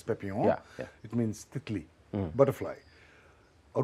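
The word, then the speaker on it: Papillon: And तो मैंने देख लिया था एक फिल्म जिसका नाम है पेपिलॉन. पेपियन. P-A-P-Y-L-O-N. French pronunciation is पेपियन.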